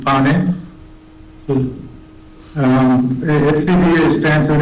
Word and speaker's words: Neupane: Chair, my last name is pronounced Pane.